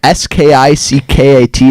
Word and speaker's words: skickat: Oh, skickat from min iPhone? Yeah, sorry. That's how you pronounce that? S-K-I-C-K-A-T is skickat?